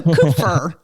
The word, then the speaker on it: Kupfer: how do I say your last name so coofer did I say it right yep perfect well